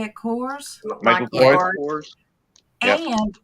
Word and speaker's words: Kors: Kors.